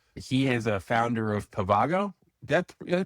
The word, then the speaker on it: Pavago: He is a founder of Pavago. Did I pronounce it right?